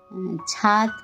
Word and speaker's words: ছাদ: আর ছাদ, ঠিক আছে, ছাদ কথাটা উচ্চারণ করতে গেলে অনেক সময় দয়ের জায়গায় ত এসে যায়, ছাদ, সেটা একটু খেয়াল রাখতে হবে।